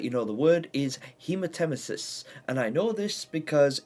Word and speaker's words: hematemesis: extent to the internal organs, sometimes leading to, hematasis? Yeah, I think it's a hemathisis or something like that. I could not pronounce the word.